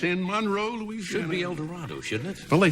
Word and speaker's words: El Dorado: El Dorado. No, El Dorado. Oh, boy. Pronounced with long A.